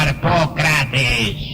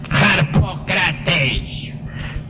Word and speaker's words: Harpócrates: Harpócrates, nombre griego, extraordinario, maravilloso. Los místicos de los misterios de Eleusis pronunciaban aquel nombre en la siguiente forma: Harpócrates.